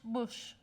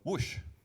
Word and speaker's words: Woosh: talk about search engine search I think it's pronounced Bush no but is it for text searing perfect so whoosh so thanks uh speaker so thank you everybody